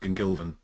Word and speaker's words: Gwmngilfen: pronounce that yeah it's it's vaguely Celtic background so it's pronounced gilvin gilvin all right sounds like